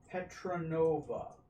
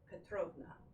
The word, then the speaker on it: Petrovna: He said your name was Baroness Lindia Petronova. That's Petrovna. Petrovna. Petrovna, sorry.